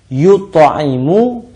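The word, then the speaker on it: يُطْعِمُ: Ya, huruf-hurufnya sama sih, hanya beda harakat saja, hanya beda bacanya. Yut'imu, yang kedua adalah yut'amu.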